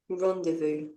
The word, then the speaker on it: rendezvous: Rendezvous.